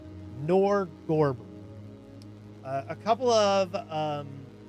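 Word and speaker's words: Norgorber: Uh uh nor how is it pronounced? It's not norborger. I keep trying to say Norborg, but it's not. It is Nerdberger. Nerdber. It is Nor Gorber. Nor Gorber.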